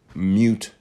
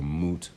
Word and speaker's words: moot: Just don't mistakenly spell or pronounce it mute point, M-U-T-E, as people often do. It's not a mute point, it's a moot point.